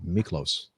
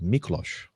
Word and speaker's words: Miklos: And thank you for putting the phonetic pronunciation of your name, because I would have said Miklos, but it's Miklos.